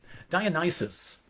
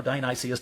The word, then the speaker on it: Dionysus: Dionysus, or Dionysius, different pronunciations, gathers from Nysa on Flaw Island.